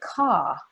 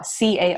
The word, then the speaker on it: car: I think that British English will say ca, ca, ca, C-A-R, Yes. ca, ca. But Americans want to hear the lips out and the tongue up and back, car, So if you could